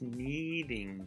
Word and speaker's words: kneading: the article what does needing do you don't pronounce the k in this word kneading so you might want